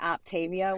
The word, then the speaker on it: Optavia: And Elizabeth, my first question for you is, am I pronouncing Optavia right? Or is it Optavia? No, a lot of people do say Optavia when they first come into it, but it's actually Optavia.